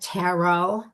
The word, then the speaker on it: tarot: Tarot without the Tarot. T.